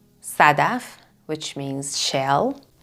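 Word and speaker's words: صدف: in passion so um we pronounce it like a normal s examples Sadaf Sadaf which means shell like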